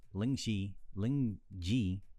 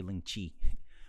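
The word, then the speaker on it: lingzhi: However, Lingji, I'm just going to say Lingji. I prefer to say Lingqi, but Lingqi is based from China. That saying is from China, and Reishi is actually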